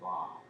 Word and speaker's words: Bobb: O B B I believe her name is pronounced Bobb.